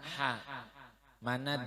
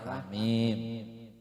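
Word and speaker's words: حم: Membacanya jangan hama lah, hamim.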